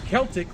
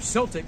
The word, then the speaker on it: Celtic: In ancient Druidic and Celtic or Celtic, however you want to pronounce it, cultures, mistletoe was a revered as a symbol of fertility, love, and protection.